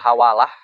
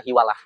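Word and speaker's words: حوالة: mana pulang bismillahirrahmanirrahimlun fil hawal Ah pasal menjelaskan tentang akad hawalah di fathilha wahu kasruha. Jadi bacanya bisa hawalah bisa hiwalah. Yang gali di kita itu hiwalah.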